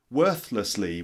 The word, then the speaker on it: worthlessly: threshold number eight is worthlessly worthlessly which means sort of